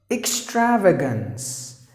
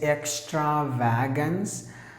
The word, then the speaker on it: extravagance: the last word is extravagance extravagance some would say this extra wagons no not at all so you have to begin with e ml attend